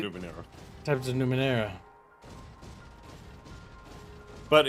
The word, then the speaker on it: Numenera: from funding Tides of Numenaria. I hope I pronounced that right. No, you didn't. I was about to say Numenera.